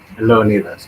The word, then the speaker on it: Leonidas: Is it Leonidas? Leonidas, yes.